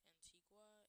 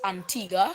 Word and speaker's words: Antigua: Um, if you move over here towards Antigua, it'll go all the way over. It just depends on what I part of correct you. It's pronounced Antigua. Antigua.